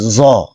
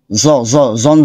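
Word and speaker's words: ز: এটা আগে দেখে নেই জিহবার আগা সামনের দাঁতি উপরের দাঁতের আগা এখানে আগাটা আসে নাই আচ্ছা জিহিবার আগা উপরের দাঁতের আগাতে স্পর্শ করবে আর এখানে নিচের দাঁতের আগাতেও আগা না বরং এর নিচে কিছু অংশ স্পর্শ হবে জ পড়েন তো দেখি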